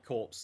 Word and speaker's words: corps: Corpsey? Is it like corpsey? Okay. Oh no, it's just corpse.